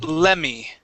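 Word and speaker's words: lemme: It's pronounced lemmy. Okay, and what it means is let me. Okay, it means let me. All right, so but we pronounce it lemmy.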